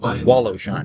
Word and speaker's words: Wallowshine: How do you pronounce that one? Wallowshine. That's correct. Wallowshin.